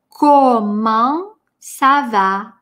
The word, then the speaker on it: comment ça va: Ко, обязательно о. Русскоязычные люди вместо о произносят все, что угодно, но не о. Здесь это очень важно. Следующий звук после ко, а носовое. Коман. Это а. Коман. Четкое о, четкое а.